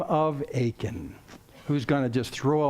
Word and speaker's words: Achan: And by the way, if you want to be accurate, it looks like Achan, but it's pronounced Achan.